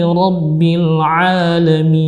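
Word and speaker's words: عالمين: Jadi yang seharusnya ain dibaca hamzah ya. Yang seharusnya lil alamin dibaca lil alamin ya. Baik, insyaallah kita ulangi lagi. Bacaan yang benar adalah alhamdulillahi rabbil alamin ya.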